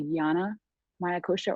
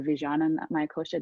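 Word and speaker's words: vijñānamaya kośa: that is your uh the yana maya kosher or vijayana mayakosha depending on how you want to pronounce that and that is your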